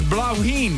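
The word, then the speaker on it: Bláithín: He wrote, it's pronounced as blauwheen. It's an Irish word for little flower, and what a beauty it is.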